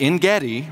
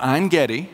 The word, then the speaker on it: Ein Gedi: And at Ein Gedi, or Ein Gedi, both pronunciations are correct, it was a spring, one of very few springs that are around the Dead Sea.